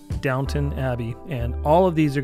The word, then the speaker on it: Downton Abbey: Now it looks like it says Downtown Abbey, but it is pronounced Downton Abbey.